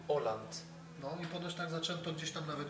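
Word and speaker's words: Haaland: Tak coś czułem chociaż norwegowie twierdzą że poprawna wymowa tego nazwiska to Oland Oland tak zaczęto gdzieś tam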